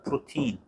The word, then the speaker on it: protein: 이거 프로테인이 아니라 프로틴이라고 읽는 거야. 프로틴.